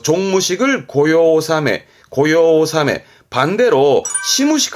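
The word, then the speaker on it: 御用納め: 발음은 고요오사메 용무가 끝났다는 뜻인데 뭐 회사라든가 관공서에서 연말에 업무를 마치는 종무식을 합니다. 그 종무식을 고요오사메 반대로 시무식 할 때 새로 시작할 때 시무식은 고요하지메 이런 식으로도 받으면 좋겠습니다.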